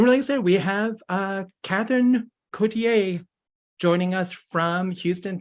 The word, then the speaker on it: Catherine: say it right um it's in English we just say Katherine um in French it' be K just to be very fancy but I I pretty much blow that off in Texas how long